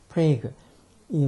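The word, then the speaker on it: Prague: 도시도 프라만큼 프레이그 프라 우리는 보통 프레그 이게 용어 발음은 프레그 이렇게 하고 우리는 보통 프라라고 하는 그 도시 프레그이 뭐 체코의 수도죠 그래서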